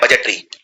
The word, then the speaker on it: budget: अब ये गलती कहां होती है, बजट में डी प्रोनाउंस नहीं होता, डी का उच्चारण नहीं किया जाता, तो बजट